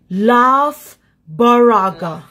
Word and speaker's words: Loughborough: Loughborough. What? Loughborough. You, why not eight.